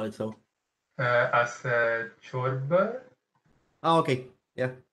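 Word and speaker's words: ciorbă: I thought you used a weird R, which is not rolled. So Romanian R is trilled. Well, rolled, not trilled. So don't be afraid of rolling it.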